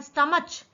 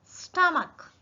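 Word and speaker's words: stomach: अब देखो, इसको लोग पढ़ते हैं, CH को नॉर्मली च पढ़ा जाता है तो लोग इसको पढ़ते हैं स्टमच, पर ये स्टमच नहीं है, ये है स्टमक।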